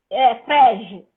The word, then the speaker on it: Frege: Eu não vou saber pronunciar o nome, então me corrija o equívoco. Tá Gottlob Frege. Como fala isso? Frege.